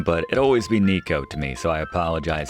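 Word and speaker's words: Neko: Strictly speaking, it's Neos as in Neco, Japanese for cat. Appreciate uh those of you for sending me straight on that pronunciation, but it'll always be Nico to me, so I apologize in advance.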